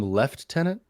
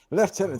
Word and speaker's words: lieutenant: could we call him left tenant sir Gareth morray left tenant sir Gareth morray right I think that fits a little bit better that's just the British pronunciation right yeah it's spelled